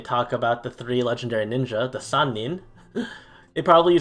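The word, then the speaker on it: 人: use to count them the counter for people is simply the kanji for person but it's pronounced as nin however one person and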